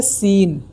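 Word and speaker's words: سین: सीन और शीन को differentiate करना बहुत ज़रूरी है, वरना सीन और शीन में अगर हम अलग अलग दोनों का उच्चारण नहीं करेंगे तो उसका मतलब बहुत ज़्यादा बदल जाता है।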